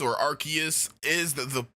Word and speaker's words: Arceus: you guys hold on how do you guys pronounce arceus by the way because archie rks or arceus is the correct pronunciation but ah man maybe